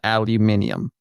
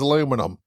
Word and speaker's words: aluminium: apparently the guy who named it settled on aluminium so and he was British so I'm just saying you're pronouncing it wrong well Sir Humphrey Davy here